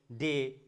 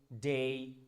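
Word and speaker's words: day: কিন্তু অনেক ভুল করি যেমন এটাকে আমরা বলি মে ডে সে টুডে আসলে যখন আপনি আপনি যদি ব্রিটিশ বা আমেরিকান এক্সেন্ট ফলো করেন যেকোনো একটা ফলো করেন কোন সমস্যা নাই কিন্তু ওরা কিন্তু ওয়ার্ডের শেষে যদি এ ওয়াই থাকে ওরা এটাকে এ না বলে বলছে এই যেমন মেই সেই ডেই টুডে মানডে সানডে তার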